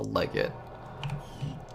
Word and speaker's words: legate: Legate pronunciation. Google legit. The legit. Okay. It's called a legit.